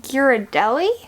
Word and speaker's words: Ghirardelli: Now jumping back to some chocolate, I think the brand is pronounced Ghirardelli, but the like chocolate squares, specifically the caramel ones.